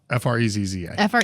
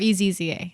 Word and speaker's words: Frezza: Frezza. Frezza. And it's pronounced like pizza because of the two Z's.